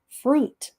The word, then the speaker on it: fruit: ear in it pair fra f r has the frust sound you has the u sound and then the I is silent and T has the test sound fruit okay I am eating